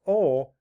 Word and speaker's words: al: And al, pronounced ol, is an adjective meaning relating to.